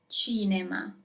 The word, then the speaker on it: cinema: China. As you might have guessed, China is cinema and you actually write it in the very same way you write it in English. China.